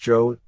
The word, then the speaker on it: Jos: at the time against Jose pronounced Joe the Duke a Canadian